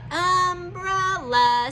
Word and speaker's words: umbrella: up let's sound out umbrella so get your hand up here we go ready um we sounded out the first syllable um double l but you make the sound one time umbrella uh is this